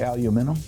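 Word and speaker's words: aluminium: I think in England I heard somebody say aluminum that they're emphasis on a different syllable there's aluminum rust yes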